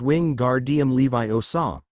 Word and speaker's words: Wingardium Leviosa: and lectured stop stop you're saying it wrong it's Wing gar DM Levi OA make the gar nice and long Harry winced that was